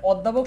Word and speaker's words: অধ্যাপক: এই মানে অধ্যাপক শব্দের ও এর উচ্চারণটা কি সংবৃত না বিবৃত?